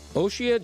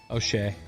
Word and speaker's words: O'Shea: How do you want me to pronounce Tatas? Oshia Jackson Jr. O'Shea.